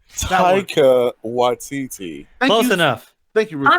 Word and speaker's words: Taika Waititi: The guy, Teriyaki, I don't know how to pronounce his name properly. Teriyaki? Teriyaki Taki Watiti. Taika Waititi.